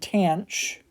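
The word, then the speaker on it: tanh: When I learned hyperbolic sine, hyperbolic cosine, and hyperbolic tangent, I was told that they were pronounced cinch, cosh, and tanch, which cosh makes sense.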